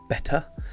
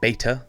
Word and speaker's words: Betta: or better splendids yes it is pronounced better not beta as the Americans would usually say they just pronounce it